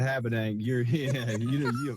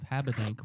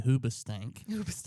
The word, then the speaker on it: Habedank: but I would think the most common mispronunciation of Habedank would be Hoobastank, because that was like a rock band back when I was in high school.